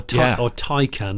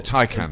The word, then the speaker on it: Taycan: Well, talking of Taycan, or Taycan as they call it. Sorry, I've done it wrong, Taycan. I'm sorry, Taycan.